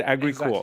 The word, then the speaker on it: Agricool: Is that how you say it? Agricool. Exactly, Agricool.